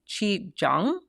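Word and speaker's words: qigong: I'm going to say chi jang, which I'm just starting to get into, and you've probably seen it. It's spelled qu ui g o n g, I believe.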